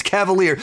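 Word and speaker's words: Kavalier: Now granted the decision maker in this his last name is Cavalier spelled with a K but it's Cavalier.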